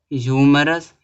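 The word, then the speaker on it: humorous: देखो ह्यूमरस दिया है ह्यूमरस ह्यूमरस में एच साइलेंट नहीं है आर्टिकल क्या लगेगा ए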